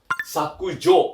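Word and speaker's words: 削除: Artinya sama, tapi kalau N2 bacanya adalah sakujo. Artinya itu adalah delete atau menghapus.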